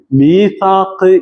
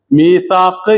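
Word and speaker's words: ميثاق: ഭാഷയിൽ മീസാക്ക് എന്ന് പറയുക യൂസി ഇത് ശരിക്കും മിവ് താക്ക് എന്നാണ് മിവ് ഔ എന്നല്ലേ അപ്പൊ മിവ് താക്ക് എന്നാണ് പക്ഷേ അതിന്റെ മുമ്പ് മി എന്നുള്ളതിന് കസർ ആയതുകൊണ്ട് അവിടെ യാ ഉച്ചാരണത്തിന് വേണ്ടിയിട്ട് എന്താക്കിയതാണ് യാ ആക്കി മാറ്റിയതാണ് എന്ത് മീസാക്ക് എന്ന് പറയുന്ന സാധനം മീസാക്ക്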